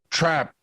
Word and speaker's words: Trappe: Today we have with us Christoph Trappe. Is that correct? Did I pronounce it correctly, your last name?